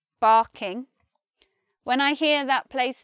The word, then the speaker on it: Barking: This one is barking, barking.